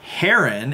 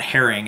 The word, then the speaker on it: Herrin: I had forgotten Kim Harun h er rin not herring as i pronounced it in the other video was in moving violations